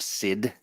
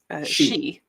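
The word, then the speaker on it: Sídhe: Raymond mentions official M&M stats for Oberon and Titania and other famous Fae, like a template for, is that pronounced Sid? She.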